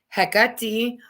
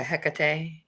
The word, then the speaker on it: Hecate: with and studying with Hecate. We say here in America, Hecate. In Greek, it's Hecate.